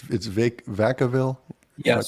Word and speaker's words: Vacaville: It's Vacaville? Yes. Am I pronouncing that correct? Yes. So Vacaville is a city of about 100,000 people.